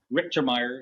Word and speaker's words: Richtermeyer: inviting me um my name is is actually pronounced uh richtermeyer if you're in the states uh Ricker like